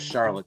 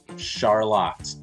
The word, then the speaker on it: Charlotte: or from the East Coast that definitely says Charlotte to you right and I had to learn the hard way when I first learned here it is actually pronounced Charlotte here in town so just just giving you